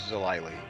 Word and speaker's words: Zilly: Actually, uh, we changed my name this week. So, it's Zilly. Oh, it's Zilly. Okay. With a long I happened to be the same spelling.